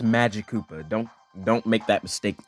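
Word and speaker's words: Magikoopa: longest time I thought this guy's name was pronounced Maggie Koopa I don't know what was wrong with me but yeah it's pronounced Magik Koopa don't don't make that mistake like I did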